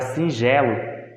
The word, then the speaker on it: singelo: Se a gente for pronunciar a palavra singelo, falando da maneira que a gente fala, ela vai ter o G, ele vai ter o som de J, tá?